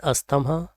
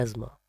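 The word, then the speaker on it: asthma: People with एज़मा have difficulty in breathing, not अस्थमा। ये इसकी right pronunciation है एज़मा।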